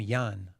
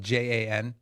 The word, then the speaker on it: Jan: Well, there's a guy named Yan, you know, um, Vanek, the founder, his name is spelled J an.